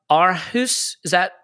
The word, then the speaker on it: Aarhus: I do want to mention Jack Wilshere going to a Danish side, Aarhus. Do we think that's how we pronounce that?